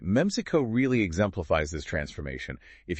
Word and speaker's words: Memcyco: Now, our sources mentioned Meico. That's pronounced MECO, right? That's right. Meico.